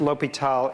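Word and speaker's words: L'Hôpital: the same thing and it's still pronounced l'hopital even if it's got an s in it all right so that's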